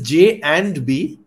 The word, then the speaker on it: J&B: you love it's so the correct way to say it is J and B yeah that's the actual name and I mean I